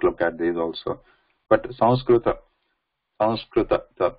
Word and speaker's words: Sanskrit: But because it is written like that, people who may not know the Anusvara, they start actually pronouncing it with the N or M, like Sanskrit or Sanskrit, like San, with San, with Na coming there. But Anusvara is this, that sound is following that Sa.